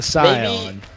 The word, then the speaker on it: Scion: person seeing that word would call it a Scion in it honestly it sounds way cooler maybe they're just morons who don't know how to pronounce things is it like maybe it's spelled s-c-i-o-n yeah that's the sign yeah I know right no front's back front